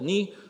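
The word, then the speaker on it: ν: for the process P this letter here is called knee so if you ever seen Monty Python like you can think me and you remember how to pronounce it the last part is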